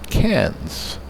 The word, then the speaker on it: Cairns: By the way, it is apparently pronounced, and I didn't know this, Cairns, even though it's spelled Cairns.